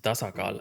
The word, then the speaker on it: Tasakal: Funnily enough, I'm not sure who was the developer who made it, but it's actually pronounced Tasakal, and it's taken from my language, and it's literally a straight one-to-one translation for balance, which kind of fits the theme, I guess.